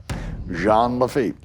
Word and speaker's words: Lafitte: And you understand it, I pronounced the game right, Jean Lafitte.